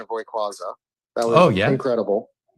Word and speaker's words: Rayquaza: Yeah, I've got uh First off, I want to commend you on your pronunciation of Hayquaza.